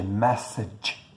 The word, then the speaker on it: message: O G a gente tem que tomar cuidado, porque a gente pronuncia o G também com o som de J. No inglês não rola. É J ou G, né? Nunca vai ser J.